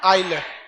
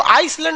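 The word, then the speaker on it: island: आइलैंड। आइलैंड में ना S silent रहता है। इसको आइसलैंड नहीं पढ़िएगा, आइलैंड।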